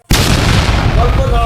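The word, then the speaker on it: knee: রাজা হয়ে যাবেন ইনশাআল্লাহ না করে এই ভিডিওর লেখাগুলো অবশ্যই আপনি কোন শব্দের শুরুতে কে থাকে তারপরের লেটার যদি এন হয় তাহলে কে এর উচ্চারণ হয় না সাইলেন্ট হয় যথা নাউ নট নি নাইফ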